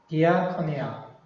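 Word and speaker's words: διακονία: 그럼 이 서비스란 말이 영어의 서비스가 그리스에서는 뭐에서 나왔냐면 디아코니아. 저도 사실 그리스 잘 모릅니다만 그냥 거의 발음 나오는 대로 보이는 대로 글자대로 읽으시면 돼요. 디아코니아. The service translates diaconia.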